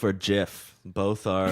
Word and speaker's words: GIF: And then younger generations started calling it Jif, like the peanut butter, and it's ridiculous. But apparently, the creator of Jif, or of a GIF, said it's pronounced Jif.